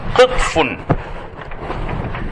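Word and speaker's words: قطف: It's pronounced as qitfun, and the plural of it is either qitafun or qutufun.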